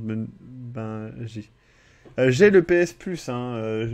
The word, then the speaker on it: Bungie: Même en français, ça se prononce Bangui.